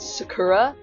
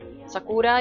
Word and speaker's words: Sakura: watch Cardcaptor Sakura, and the American dub, they're like Sakura, they pronounce it Sakura, which I always thought was like quite a gross pronunciation. Like I never liked how that sounded. Sakura, you know, like I feel like that's how it's supposed to be.